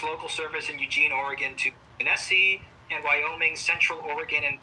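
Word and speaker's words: Genesee: Union Pacific transfers local service in Oregon to Jessie and Wyoming Central Oregon and Pacific Railroad did I say that right janesse is that what how you say it jice and Wyoming genese there we go Jesy and Wyoming there we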